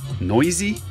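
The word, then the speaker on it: Neuse: This guy, I got a message that his name is pronounced differently. What was it? Noisy? Sheldon Noisy? Is that how it's pronounced? Noisy, that's a weird pronunciation.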